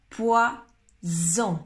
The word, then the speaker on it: poison: S en espagnol, poisson, ou alors poison, c'est le Z en français. Poisson, poison. Poisson et poison, poison. Poisson, poisson, poisson, comme un S en espagnol, et poison. Attention, c'est pas la même chose. Poison. La langue vibre un petit peu.